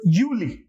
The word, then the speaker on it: Juli: one is Julie and not Julie okay so Yuli Julie August August September September October October November although we normally pronounce this fur but here it will not